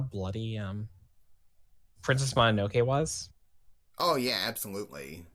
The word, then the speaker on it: Mononoke: Why do you pronounce Mononoke wrong? Mononoke wrong. It's Mononoke. Mononoke. It's Mononoke. It's a Japanese word.